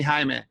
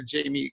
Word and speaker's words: Jaime: The problem I have is, for those Latinos in the world, is when someone says, hi, is your name Jaime? I just immediately go to Jamie because they can't pronounce it. So I always go with Jamie. It's just easier with people here in the US anyway.